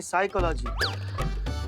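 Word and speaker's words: psychology: लागी तो साइकोलॉजी नहीं साइकोलॉजी पी साइलेंट होता है तुम हो जा साइलेंट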